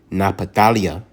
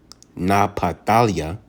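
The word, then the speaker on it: נפתלי: In the Hebrew is Napatalia. Napatalia.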